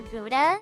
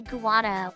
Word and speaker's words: Gouda: up and ask for Gouda, but they didn't know how to say it right, so they would say Guada or Goda.